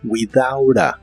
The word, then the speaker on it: without a: significa sin un permiso las palabras without y a se juntan y se pronuncian como without a como si la t fuera una r without a permit without